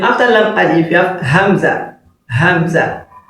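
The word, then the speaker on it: همزة: Then after lam alif, you have hamza. Hamza. So hamza as well is pronounced like alif.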